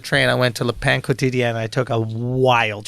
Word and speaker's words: Le Pain Quotidien: I've been calling that shit Le Pen quotient, son. I ain't know. Le Pain Quotidien.